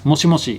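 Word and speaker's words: もしもし: People will also pronounce this as moshi mosh, so you don't necessarily say moshi moshi. Sometimes you say moshi mosh.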